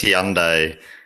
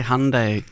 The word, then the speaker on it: Hyundai: But it's hard cuz he says Handai sort of halfway between Honda and Hyundai. So, they say Hyundai, don't they?